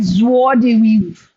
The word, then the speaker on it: joie de vivre: We pronounce like joie de vivre.